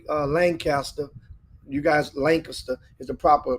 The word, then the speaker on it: Lancaster: and of course L uh Lancaster you guys Lancaster is the proper pronunciation always call him Lancaster just always like